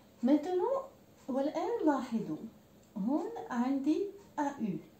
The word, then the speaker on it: au: Maintenant, والآن لاحظوا هون عندي AU. Le AU باللغة الفرنسية ينطق O. Il est un petit peu long, طويل نوعا ما.